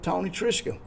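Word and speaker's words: Tony Trischka: Hey, today Big Sound, Small Town is at the Merlfest Festival and I'm with Tony Trisha. How are you, Tony? I'm good. You pronounced my name correctly.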